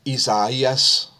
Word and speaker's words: Isaias: And so you'll see the way Hurricane Isaias is going to propagate. Pardon my mispronunciation yesterday. I was not aware that it's Isaias.